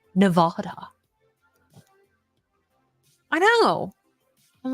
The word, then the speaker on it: Nevada: what did you say it's Nevada not Nevada I know I'm like